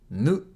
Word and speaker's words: ぬ: Three strokes One, two, three ぬ is pronounced like /nu/ in ‘noodle’ This kana looks like